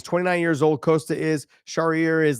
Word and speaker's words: Charrier: It's Charrier.